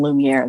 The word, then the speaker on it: Lumiere: And there's another one, Lumiere, that I use. I pronounce it like the character in Beauty and the Beast.